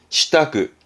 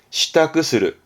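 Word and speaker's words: 支度: 발음은 시타크, 시타크스르, 시타크스르에서 가장 많이 쓰여지는 게요.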